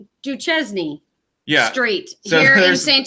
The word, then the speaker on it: Duchesne: It's Duchesne."